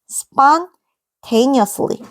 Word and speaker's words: spontaneously: 이건 발음 어떻게 한다고? 이건 spon이야. spontaneously. 그쵸? 뒤엔 똑같아요. spontaneously. 이렇게 인이야. spontaneously.